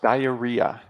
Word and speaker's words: diarrhea: egg right wow so yeah this word is pronounced diarrhea diarrhea yes yeah diarrhea wow and how long